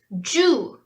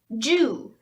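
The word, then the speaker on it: 十: a plus ten and how you say it is Zhu Zhu like I said this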